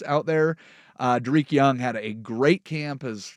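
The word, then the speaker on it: Dareke Young: 3 wide receivers did not participate in practice: Cooper Kupp, Drake Young, and Jake Bobo. If you have not heard of, Derek Young. Mispronunciation.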